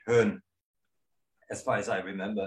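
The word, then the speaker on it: Bön: what that means burn you probably pronounce it burn but it's really pun as far as i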